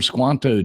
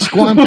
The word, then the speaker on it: Squanto: I say rhymes with Tonto. Right. Squanto, 48% went with Sacagawea.